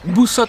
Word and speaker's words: Busot: Dans un premier temps, nous allons nous rendre à Buzo, ou Busot si tu le prononces correctement en espagnol.